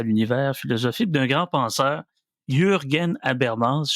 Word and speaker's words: Jürgen: philosophique d'un grand penseur, Jürgen Habermas, je le prononce comme il faut, il y a un trémor sur le U.